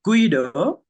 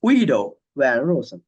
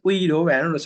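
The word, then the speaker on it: Guido van Rossum: a Latin name so a Dutch name not Latin name Dutch name so it's not Guido this is just a fun fact it's Ido van Ros right so it's not Guido so just pronounce it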